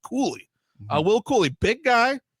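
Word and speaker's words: Cuylle: I thought it was Kyle. I Kyle was my first guess, but it was pronounced Koulie.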